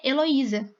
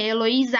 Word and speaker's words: Heloísa: é a sílaba tônica o acento tônico está no i porque meu nome se pronuncia heloísa meu nome não se